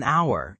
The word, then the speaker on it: hour: So, we say an hour. Even though H is a consonant, because the H is silent, it sounds like our.